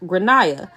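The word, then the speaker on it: Gráinne: and I said well in Ireland they typically pronounce it like granah her face went red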